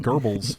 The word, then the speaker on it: Goebbels: Working hand in hand with Goebbels. Yeah. Is that how you pronounce his name?